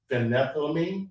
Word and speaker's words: phenethylamine: That's how do you pronounce that? Try it. Phenethylamine?